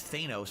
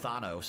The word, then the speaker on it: Thanos: Top back then I thought his name was Thanos apparently it's pronounced Thanos and now we all know that but we